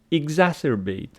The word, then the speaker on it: exacerbate: the stress pattern where the stress Falls exacerbate exacerbate the second syllable and then exacerbate exacerbate